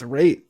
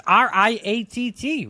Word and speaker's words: Raitt: It's Raitt. Raitt. Like Wait, it's Riatt.